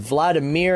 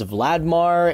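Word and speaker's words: Valdemar: any time I said Vladimir I think it's vladar it's not Vladimir I I probably mispronounced his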